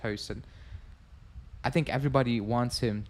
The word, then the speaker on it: Huijsen: I will pronounce it how it should be pronounced, Hoyson.